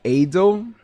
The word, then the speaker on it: Adel: Is that how you pronounce it? Adole. Like kind of like idol, but Adole.